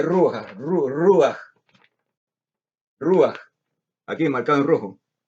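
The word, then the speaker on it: רוּחַ: Aquí aparece, se pronuncia Ruach, Ruach.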